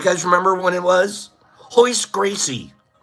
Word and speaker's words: Royce Gracie: It took me 5 years to figure out his name wasn't Royce. It was Hoist. I feel like all Brazilian because I know how to pronounce his name. Everyone else said Royce, and I'm like, no. It's Hoist.